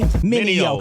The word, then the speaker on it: Mineo: Say it with me, Mineo.